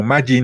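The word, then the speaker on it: 魔人: es como persona malvada por lo regular no se lee esa combinación de kanjis como majito sino como Majin como en el caso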